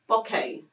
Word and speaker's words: bokeh: I had to Google to work out the pronunciation so it's called the Christmas bokeh okay Christmas poker Runner so Boca is um